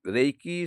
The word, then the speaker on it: HRA: এই রা হচ্ছে HRA, রা। যখন আমরা এটি উচ্চারণ করব, রাটা টান দিয়ে বলবো, রা রা রা।